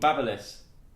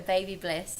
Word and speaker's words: Babyliss: my God, is it actually called Babyliss? Yeah, look how Why it's is it spelled like B-A-B-Y? That's baby. Babyliss. Babyliss Crazy Braid.